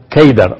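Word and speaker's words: Qedar: a través de Cedar en árabe la palabra Cedar se pronuncia keidar o se escribe keidar es a través de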